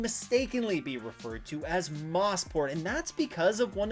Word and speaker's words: Mosport: to know ahead of the Chevrolet Grand Prix mosport yes it's pronounced mosport and not mosport has a long history behind